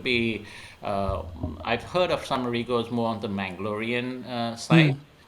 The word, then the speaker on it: Rego: So all my life till today, I've always pronounced it as Rego. So I'm glad you were able to correct that as Rego.